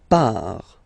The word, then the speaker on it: part: Il, elle, part. Final T not pronounced. Il, elle, part.